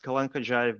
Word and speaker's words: Kalankhodzhaev: Yeah, it's pronounced Kalankhodzhaev, but I know it's very complicated, so no worries.